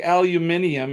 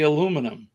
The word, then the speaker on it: aluminium: i discussed this right so you say aluminium and i say aluminum and then you say